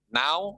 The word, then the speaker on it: know: Now, apa artinya now? Nggak tahu. Sekarang. Catat. Nyanyi sekarang. Sekarang, oke. You? Kamu. Apa you? Kamu. Kamu, oke. No. Ini bacanya no. K-nya tidak dibaca.